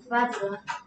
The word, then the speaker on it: bathroom: bedroom이라고 발음하면은 침실 같은데. Bathroom. Okay, 자, 그 녀석답게 소리를 내야지. 선생님 들어보면 어떻게 입모양 어떤지 다 들려 다 보여 마스크 하고 있어도 오케이 자 그럼 이거 욕실을 영어로 써봐 욕실을 영어로 쓰면 스펠링 자 얘는 어떻게 하라 그랬지 어떻게 소리 내라 그랬지 뜨 하라 그랬잖아 뜨뜨 혀를 물라고 했지 그쵸?